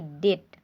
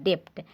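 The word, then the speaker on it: debt: देखिए इसको हम लिखते हैं बी, यहाँ पे साइलेंट है, इसको लिखते हैं हम लोग डेप्ट, लेकिन इसको पढ़ते हैं क्या, डेट। ठीक है, चूँकि बी क्या है, साइलेंट है।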